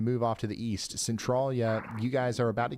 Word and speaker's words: Centralia: you mama bear thank you all right C Centralia okay gotcha any fing trampolines today boys if